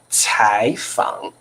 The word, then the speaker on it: 采访: it 这个要念柴 second tone although you see that's a third tone but when you pronounce it you have to pronounce second tone 柴坊 OK 记得好不好哦你不要念采访why why